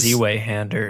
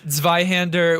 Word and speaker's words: Zweihander: Oh, I called it a Which is- Z-Way-hander in Dark Souls. You shouldn't. Did you really? Yeah, I didn't know how to pronounce Wow, a Z-way-hander. it. Z-Way-hander. Yeah, Zweihander, which is just a two-handed sword, like a two-handed sword.